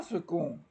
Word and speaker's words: second: comme tout le monde second s E C o n D et bien non ça se prononce g bizarre hein il est dans un état second non il est dans